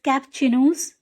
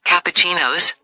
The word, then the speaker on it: cappuccino: you've got it right it's cappuccinos it's an Italian word so it can be tricky if you break it down it's pronounced like kuchi no keep practicing and it'll